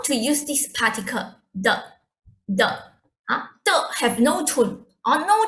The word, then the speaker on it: 的: We pronounce it fast and light, like the.